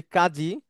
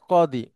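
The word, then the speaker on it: قاضي: যেমন এরকম অনেক শব্দ আছে, আমরা যেটাকে বলি গজব, আরবিতে সেটা গদব। আমরা যেটা বলি কাজী, আরবিতে সেটা কদি। আমরা যেটাকে বলি অজু, আরবিতে সেটা হচ্ছে উদু।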